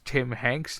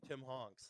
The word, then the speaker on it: Tim Hanks: It was like, oh yeah, it's Tim Hanks now. It's like, okay, I'll take that. Why you keep saying his name wrong? It's Tim Honks.